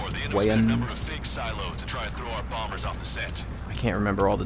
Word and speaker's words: Wayans: I always wanted to call him Damon Wayans, but I guess it's spelled W-A-Y-O-N-S, so it's Wayans. Wayans.